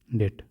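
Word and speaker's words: debt: public डेप्ट बोलते हैं डेट पढ़ते हैं डेट डीई बीटी को हम लोग पढ़ेंगे डेट के डेट बोलेंगे लेकिन बी को यहां साइलेंट रखते हैं ठीक है बी को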